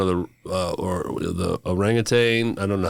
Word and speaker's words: orangutan: Unfortunately, one of the uh or the orangutane. I don't know how to say it. Rang rangutan is how they say it spelled, but I say rangutang cuz I'm from Tang there. I'll put a G.